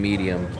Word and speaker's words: medium: There's no J in medium. It's medium.